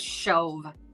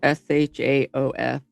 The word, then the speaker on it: Shoaf: It's Shove. I don't know what I said. It's like SHAOF. It's spelled SHOAF. Oh. But it's spelled, or it sounds Shove. All right.